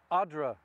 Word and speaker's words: Odra: And in this country, in this particular place, it can be very difficult to know, because Oder is the German pronunciation and Odra is the Polish pronunciation.